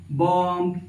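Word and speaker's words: bomb: हैं आपके सामने कॉम बम थम ये सारी चीजों को हम लोग पढ़ते कैसे हैं कॉम बम ये जो बी वर्ड होता है ना ये साइलेंट होता है कभी-कभी प्रोनंसिएशन के केसेस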